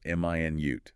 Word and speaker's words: minute: This one depends on stress, right? Stress on the first syllable. M i nute. That's the unit of time 60 seconds. Stress on the second syllable minute. That's the adjective meaning very very small tiny.